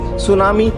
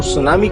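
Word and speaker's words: tsunami: हां दोस्तों next words सुनामी 30 silent रहता है इसको सुनामी कहा जाता है जब रितिक रोशन का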